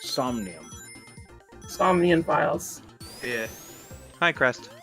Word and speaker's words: Somnium: there's a minion files yes it's stacked it's pronounced somnium insomnian files yeah hi crest welcome to the